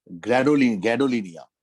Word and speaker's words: gadolinium: except atomic number 64, जिसका नाम है gadolinium, GA से प्रोनाउंस होता है, GA।